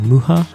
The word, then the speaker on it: Mucha: random but um in terms for alphonse mukas muha's name um i saw many pronunciations of the name like mucha luca and muha um it's very slight but there's a it's